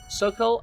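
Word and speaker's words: socle: Sockle? Sockle? Sock? What is that word? Soleil? I'm gonna look up this word. What is it? Okay, so it seems to be pronounced Sokol, and it is a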